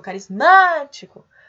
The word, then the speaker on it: carismático: O carismático. O má é a sílaba mais forte, que é a antepenúltima, portanto, nós temos aí uma palavra proparoxítona.